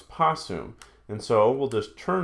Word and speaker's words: possum: over for that T they had hard time pronouncing a TS together so just so instead of putts soon it becomes possum and so we'll just